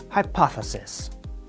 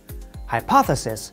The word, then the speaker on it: hypothesis: be difficult to pronounce there is one consonant sound that is difficult for speakers of many languages it is the th sound we make the sound by putting our tongue between our lips like this then we